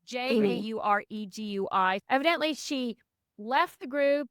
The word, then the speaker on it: Jauregui: Lauren Jauregui? I don't know how you say it. It's Jauregui.